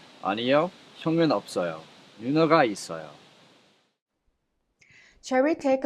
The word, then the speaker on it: 없어요: If you take a look at 없어요. 비읍 and two consonants put together are called double consonants. When you pronounce them, you pronounce the first one as it is and the second one is prolonged to the next syllable or vow.